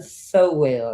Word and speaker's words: Sowell: And tonight, our third nominee is Miss Pamela Sowell. And am I saying your last name right? Yes, yes, so well.